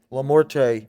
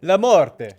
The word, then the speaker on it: LaMorte: Christian, how do you say your last name? Lamort. Lamort. But Lamorte originally it's Italian. Lamorte.